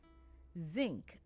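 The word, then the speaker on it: zink: pronounced as ing and nk is pronounced as ink so that is a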